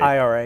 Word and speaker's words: IRA: of bombings by the NRA in is it NRA? Am I saying it right? IRA.